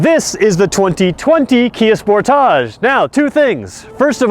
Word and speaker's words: Sportage: watching from the states you're gonna tell me I'm staying Sportage wrong I'm actually saying it right let's just not argue I live in Canada sport ologist the way you say it it's just the Americans that say it wrong so there you go